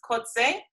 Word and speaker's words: Coetzer: director of dark room contemporary dance company kotze and as as i always do i ask